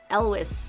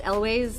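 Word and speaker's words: Elwes: is played by Carrie Elwis." Elways in English. I never knew how to pronounce his um his last name, but yes, he's the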